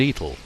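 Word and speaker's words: Etal: for Ford and eel or as locals pronounced the two Villages Ford and eel the closely knit Villages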